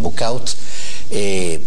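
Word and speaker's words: Bouchout: el castillo de Busú, que ellos, los flamencos, le pronuncian Bukaut, mueren, nacen y mueren,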